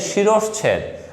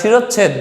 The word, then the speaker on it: শিরশ্ছেদ: উচ্চারণটা হচ্ছে শিরশ্ছেদ, আমরা শিরচ্ছেদ বলি, ছ বলি, উচ্চারণ হচ্ছে শিরশ্ছেদ।